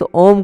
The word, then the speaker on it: ओम: जो बोल रहे हैं हम 30 पर हिस्सा ओ का और 70 पर हिस्सा म का समझ रहे हो ना 30 70 का रेशो मतलब कम ओ को कम उच्चारण करना है और म को ज्यादा